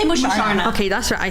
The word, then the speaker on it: Musharna: Do you say moosh or mush? I say Musharna.